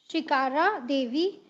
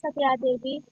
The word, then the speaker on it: Sakira Devi: Shikara Davi from Manipur. Sorry if I have pronounced your name wrongly. My name is Sakira Devi.